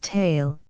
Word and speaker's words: Thal: old cluster of when fusen in DF Thal pronounced tale is still preserved a mysterious Wonderstone which is